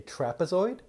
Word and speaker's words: trapezoid: trapezoid can you say trapezoid help me clap it out ready trap Zoid one more time trap but soy it's got three syllables so trapezoid is a